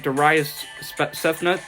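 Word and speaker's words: Darayus Sethna: at nordonia sports and my name is spelt darius cephnut to pronounce it it's spelt d-a-r-a-y-u-s-s-e-t-h-n-a additionally the cleveland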